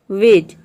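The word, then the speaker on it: wedge: तो इन सभी वर्ड में आप देख रहे हैं कि डी जी एक साथ आ रहा है, या फिर डी के बाद जी आ रहा है तो यहाँ पे डी को हम साइलेंट रखते हैं, डी को प्रोनाउंस नहीं करते हैं, केवल जी को प्रोनाउंस करते हैं।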